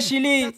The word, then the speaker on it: Chili: Oh Happy, c'est le mauvais chili. Ce n'est pas de ça que je parle. Je parle du pays. Ça se prononce Chili. C'est en Amérique du Sud.